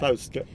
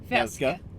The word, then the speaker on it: Fauske: Fauske. Fjellska. Fjellska. Fauske. Fjellska. Felska? There's no L, it's Yeah, but why are you doing Yeah.